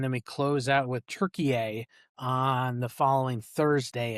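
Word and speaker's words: Türkiye: Turkey is the uh the approved uh pronunciation as of a couple years ago. T U R K I Y E.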